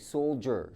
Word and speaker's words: soldier: It has a "J" sound. There's no "J" in there but it's like sol-jur...